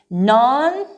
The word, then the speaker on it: nonchalant: comes from the french it's going to be with a soft ch okay it doesn't matter where the letters are located in the word it will be a soft ch for example non-chalant nonchalant okay or even charade charade it's very soft okay um ch now